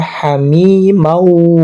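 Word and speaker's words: حميمًا: Tulisannya hamiman. hamiman tapi dibacanya hamimau karena di idgham.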